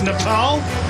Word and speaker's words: Nepal: And incidentally, I'm hearing one or two people are questioning our pronunciation of Nepal. It is Nepal. That's how they say it locally. So that's what we're going with.